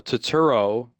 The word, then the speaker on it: Turturro: Uh, John Turturro, Turtle. I don't know. John Turtle. John Turturro. I don't know how to say his last name. John Travolta. Is that it? No, Turturro.